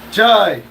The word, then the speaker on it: chai: Craig said it rhymes with sly. It's just chai.